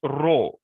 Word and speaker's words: rho: another the P Allah this is not P this is pronounced row r h o this is a Greek letter we are using Omega